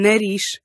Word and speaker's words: nariz: But when it shows up at the ends of words, it turns into an S, a S sound. As in nariz.